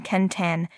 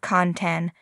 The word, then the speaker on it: Quentin: read at dick Strawbridge every time you call Quenton kentan instead of kantan this expat in loser